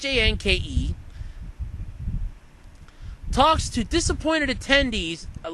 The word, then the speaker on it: Hanke: John Henke, which I don't even believe I'm pronouncing that right, it's Hanke, talks to disappointed attendees at last Saturday's Pokemon Go event.